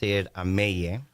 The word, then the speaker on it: Amell: to our audience that Amel, is that a Hispanic name? It actually is. I mean, it's from Catalonia. Ooh, that sounds like Spanish. Yes. So it's Catalan. It's pronounced Ameye.